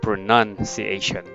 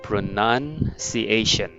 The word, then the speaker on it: pronunciation: is pronunciation pronounced okay so this time the second one is not noun but none pronunciation all right pronunciation okay